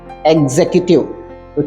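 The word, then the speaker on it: executive: है यह एटिव इसका सही प्रोनंसिएशन है एग्जीक्यूटिव चीफ एग्जीक्यूटिव ऑफिसर हमारा अगला शब्द है चेक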